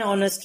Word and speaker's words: honest: Although he is laborious, but he is not an honest man. Here, honest man, H is silent, so we are using an as the article.